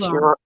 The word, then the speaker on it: Huron: It's pronounced Huron.